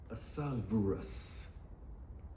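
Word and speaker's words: Ahasuerus: This is how you say this word. It looks like a a a dinosaur name. It's a h a s u r u s. It's averus. averus, right?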